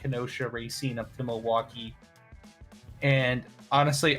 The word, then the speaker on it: Racine: one ransen is how you say ransen Wisconsin Racine Racine okay just north of kosha there's a